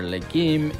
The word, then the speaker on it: legume: So, while our legume, it's pronounced legume, but it's spelled legume like the beans. While our legim is cooking, our shrimp is going to be marinating and we're going to add that later on.